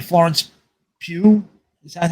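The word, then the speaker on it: Florence Pugh: know even uh uh what's her name Florence Pew is that how you say her name Pew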